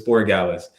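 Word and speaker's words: Borregales: I I keep wanting to pronounce it differently, but it's Boralis.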